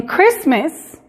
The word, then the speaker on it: Christmas: pronunciar como por ejemplo la palabra christmas en christmas la t es muda se fijan no